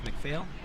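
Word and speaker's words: McPhail: oh there's some last name for me and spell it out absolutely uh my first name is and my last name is macphail t-o-m-n-y m-c-p-h-a-i-l all right um what's your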